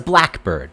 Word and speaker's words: blackbird: If it's a compound noun, the stress is on the first part. What kind of bird was it? It's a blackbird.